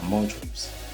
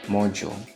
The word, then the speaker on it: module: No, they are modules. Just like the sound in education, that G, the D that sound as G. Here too, we have that same sound, module, education.